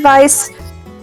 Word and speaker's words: Weiss: are suggesting her name's weiss she can introduce herself it's it's pronounced vice but that it happens a lot um hi i'm vice